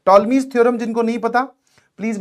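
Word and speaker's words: Ptolemy: चलिए, तो यहां पर हम यूज करने वाले हैं that is टॉलमीज theorem. P silent है क्योंकि मुझे दिखा एक साइक्लिक क्वाड्रिलेटरल।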